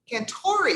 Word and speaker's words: Cantore: say your last name correctly i can't tori can tori see i have been pronouncing it wrong i should have asked beforehand